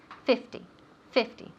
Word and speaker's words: fifty: very good so here instead of 15 50 right the emphasis the accent falls on the first syllable 15 either squares fifty fifty so we have 50